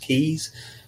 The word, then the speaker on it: Key: Some people call them K boas. They're actually pronounced keys.